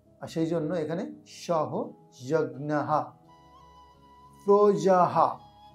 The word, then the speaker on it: প্রজাঃ: সেই জন্য এখানে সহযহা প্রজাহা বিসর্গ থাকলে হ এর উচ্চারণ হবে সেজন্য প্রজাহা সৃষ্ট সৃষ্ট